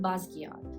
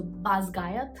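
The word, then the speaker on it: Basgiath: how to pronounce it I pronounce it basat so I I know it is wrong because I saw one of the interviews where Rebecca Yos pronounced it something else so baz gayat I think she pronounced it I don't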